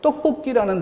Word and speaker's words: 떡볶이: 그래서 떡볶이라는 단어에 발음이 어떻게 돼요? 떡뽀, 된 소리가 나고 끼, 이 쌍기역이 뒤로 넘어가서 소리가 나요.